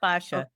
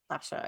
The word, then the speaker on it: fascia: Well, I think it's so important because especially fatia and I don't know if I'm saying it correctly, but this Yeah, you are. Fashia. Fascia. Okay, perfect.